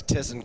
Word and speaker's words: Thyssen: Yeah, it's German. It's Tissen. There's silent letters all over.